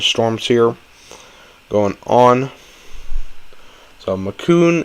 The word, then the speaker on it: Macon: So Macon is pronounced like bacon. Wait, what? Oh, it is Macon. Oh, okay, Macon.